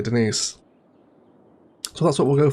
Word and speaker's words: Denise: a little dry and tells people that it's perhaps pronounced Denis in order to sound a little bit more sophisticated, but her name is actually Denise.